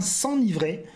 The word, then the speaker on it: s'enivrer: Alors s'enivrer, ça s'écrit avec un seul N. C'est bizarre, on dit bien s'enivrer.